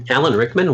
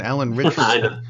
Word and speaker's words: Ritchson: Alan Rickman, what? Not Alan Rickman. Alan Ritchson. Ritchson, only with a T in it, just to make it difficult to pronounce.